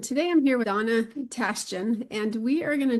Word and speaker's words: Tashjian: Uh my name is Donna Tasten and it is easier than it looks to pronounce.